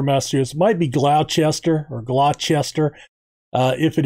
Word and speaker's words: Gloucester: rawlings also from gloucester and that's how we pronounce the gloucester in massachusetts i don't live there but it's gloucester masters might be glauchester or glochester uh if it is i'm sorry